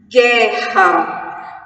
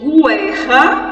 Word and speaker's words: guerra: Guerra, G-U, eu não digo guerra, eu digo guerra.